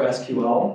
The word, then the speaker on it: SQL: In terms of languages, database languages, there's just one, and it's called SQL or SQL. Both of those are fine pronunciations of that.